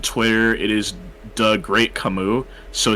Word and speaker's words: Kamui: So, but it's Kamui.